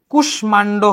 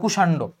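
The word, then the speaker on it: কুষ্মাণ্ড: উচ্চারণ করতে হবে যেমন এটা কুষ্মান্ড হওয়ার কথা কিন্তু এটার উচ্চারণ হবে কুষান্ড নিচে হসন্ত হবে এটা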